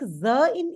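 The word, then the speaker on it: Sinn: in English Z Z so s is pronounced absolutely like Zed the way we pronounce Zed in English like that we pronounce s yeah so how would you pronounce this word if you see this word Z Z Z yeah so Z Zin basically means sense and then I am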